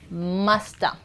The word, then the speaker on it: must have: Similarly must have becomes musta.